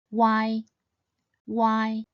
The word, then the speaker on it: uai: Once said quickly as one whole syllable, it should sound similar to the English word Y. Why? Why?